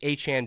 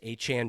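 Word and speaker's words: Etienne: It's Travis Achan Jr. in case you didn't know. Travis ETN was what he went by. His name is actually Travis Achan Jr.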